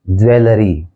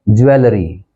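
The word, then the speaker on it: jewellery: अब देखिए अगला वर्ड है, इसको हम आमतौर पे बोलते हैं ज्वेलरी, ज्वेलरी, जबकि इसका जो करेक्ट प्रोनाउंसिएशन है वो है ज्वेलरी, ज्वेलरी, ज्वेलरी।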